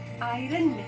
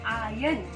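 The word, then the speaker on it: iron: of India Ireland match I पी आर ओ एन आयरन होता है उसका सही उच्चारण है आर्यन सरदार पटेल वॉल एंड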